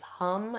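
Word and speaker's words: ham: The seed sound of the throat chakra is hum. It's spelled h a m. But the a in Sanskrit is pronounced uh and so uh you can inone that sound.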